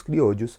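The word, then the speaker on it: criollos: e ao falar dos criodus você pode ver que se escreve crioulos mas eu estou fazendo questão de falar com Espanhol porque no Brasil tem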